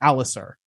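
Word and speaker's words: Ser Alliser: it's Alistair without the T. Alistair. Alistair. Okay. I keep Yeah. wanting to say like Alistair, Alicent or something. So it's Alistair.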